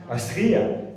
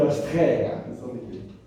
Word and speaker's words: Astria: Astria, elle est mauvaise. Elle s'écrit comment? Astria. J'ai que le nom. Ah, d'accord, d'accord. Merci. Astria. Au début, t'es bouché. Et dans le nord, on dit Astrea.